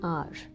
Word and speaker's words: hour: Half an आवर. नाउ यू सी the word are. Okay, half an आवर more. In the word are, the sound, this H is silent, okay, and it's R.